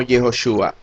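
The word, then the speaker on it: יהושע: En el caso de Yehoshua lleva el sonido de la letra O, dándonos la pronunciación como Yehoshua, palabra que el diccionario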